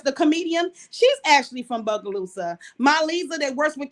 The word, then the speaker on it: Bogalusa: your hometown booga boogaloosa say it again it's bogalusa it's b a is b o g a